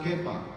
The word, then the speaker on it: Kepha: But it's actually the original is actually in Aramaic, which is pronounced Kepha.